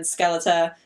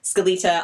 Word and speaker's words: Skelita: of 10 and then skeleta Skelita I always pronounce her name wrong I'm so sorry Skelita